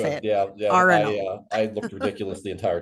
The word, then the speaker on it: Arenal: Arenal. I looked ridiculous the entire trip because I can't pronounce anything.